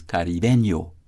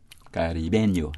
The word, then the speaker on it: caribeño: Another Spanish form of the word, which can be an adjective or a noun, depending on how it is used, is caribeño. That's Spanish, right? Whose syllabic stress, like that of Caribbean, as we prefer it, is on the penultimate syllable B.